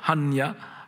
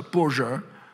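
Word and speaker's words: 般若: Et c'est amusant parce qu'en chinois moderne, on prononce ça Poja, ce qui ne ressemble plus du tout au terme sanskrit, alors qu'au Prakrit, en japonais, on le prononce Hanya, vous voyez, et c'est presque la même chose. Enfin, autrefois, ça se prononçait Panya.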